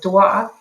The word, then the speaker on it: doigt: No wonder children can't pronounce the word doigt if they don't understand that O and I makes a wa sound in French, not an oi sound.